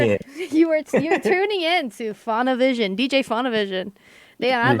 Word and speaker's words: Faunavision: yeah, Faunavision. Now Spotify. spell it for us.